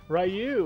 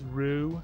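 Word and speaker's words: Ryu: uh we were like, "Oh man, like Rayu. Wow." You know, and the guy's like, "His name is Rue. That's how you pronounce it, you know."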